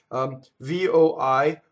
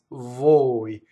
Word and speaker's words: voi: VOI, vvoi. It doesn't rhyme with boy or toy or joy. I hear voi all the time. It's vvoi.